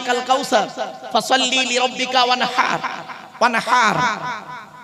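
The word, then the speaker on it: وَانْحَرْ: ওয়ানহার, ওয়ানহার, এই গলার ভেতর থেকে হে এটা উচ্চারণ করবে, হাই হুতি হাই হাওয়াজ নয়।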